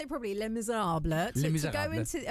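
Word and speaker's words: Les Misérables: Les Miserables.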